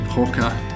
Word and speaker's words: Pocher: Now I think I'm saying it correctly, it's Pocher. I think it was P-O-R-C-H-E-R.